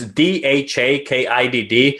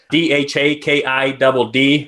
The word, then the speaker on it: DhaKidd: So I am at Billy the Kidd, and it's DhaKidd. It's funny. People ask me, hey, how to pronounce it? I think we were talking about that before. And it's like, it's just the kid.